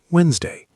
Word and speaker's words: Wednesday: Wednesday, pronounced Wednesday, silent D and first E.